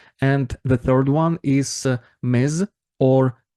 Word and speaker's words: Ms: why people start using M or Miss more often pay attention uh to pronunciation you should say it as m not miss m uh based on uh